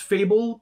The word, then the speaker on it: Favel: dan uh there's a is it pronounced fable but it's spelled favel uh yeah so yeah couple